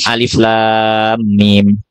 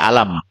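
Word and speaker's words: الم: Bacanya enggak dibaca alam gitu ya. Ini baca alam bukan, tapi dibaca satu persatu. Makanya disebut muqataah. Muqatah itu terpisah-pisah. Jadi alif sendiri, lam sendiri, mim sendiri. Ya.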